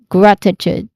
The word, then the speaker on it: gratitude: Um, pronunciation wise, gratitude. Grat, which is the first syllable. This is the stressed syllable also. Okay. Gratitude. Grat. There's a short a sound here. Grat. It starts with a consonant um consonant cluster or consonant blend sound gr. You combine the sounds of those two and then a short a sound and then ends with the letter t sound.